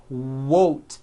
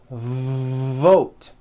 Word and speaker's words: vote: not to do this the word is not won't its vote every V that you will see in English is made with this lip biting position but when you see a V it's never whoa whoa whoa it's never a W sound it's always mm vote like that let's practice